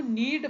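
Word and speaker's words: knead: दो गाइस गूंथने को नीड बोलते हैं यह के यहां पे सा साइलेंट है तो नीड द डो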